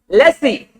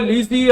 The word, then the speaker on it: lessee: Lessee. L-E-S-E-E. Lessee, then lessor. Or you can call it leasee and lessor. Okay. Whatever way you call it, it's up to you.